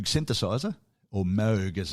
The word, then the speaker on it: Moog: Um I'm not sure whether he had the Moog synthesizer or Moog as it's pronounced Moog.